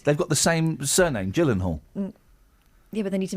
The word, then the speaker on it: Gyllenhaal: Jake Gyllenhaal. Yeah. It's a soft G.